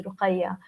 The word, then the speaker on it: Ruqayya: It's called Ruqya, but it should be pronounced as Ruqya if you go with the spelling. But my actual name is Ruqayya.